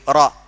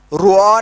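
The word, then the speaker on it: raw: हैं, बस ऐसी छे आर ए डब्ल्यू रॉ, रुआ नहीं बोलते उसको, है ना, रॉ, आसान हो गया।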